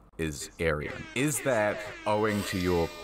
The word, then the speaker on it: Aryan: And it is a Persian name. It's pronounced Aryan. Persian.